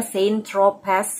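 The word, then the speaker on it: Saint-Tropez: Jadi jika saya mencarinya di Google Translate, ejaannya adalah Saint Tropez dengan huruf Z di akhir, tetapi dibaca sebagai Saint Tropez, semoga saya tidak salah.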